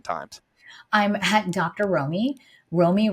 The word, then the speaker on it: Romie: Romie rhymes with homie, Romie.